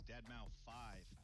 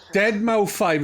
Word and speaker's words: deadmau5: is your good friend joel professionally known as deadmau5 yes that is the correct way to pronounce it tell your friends we're here to talk to you deadpool i use off dead male 5 is what i actually thought it was i